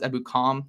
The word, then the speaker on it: Ebukam: I'm saying that right now is ebukom is how you say his last name Samson ebukom was with